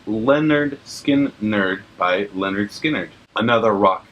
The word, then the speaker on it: Lynyrd Skynyrd: 403 is pronounced Lynyrd Skynyrd by Lynyrd Skynyrd.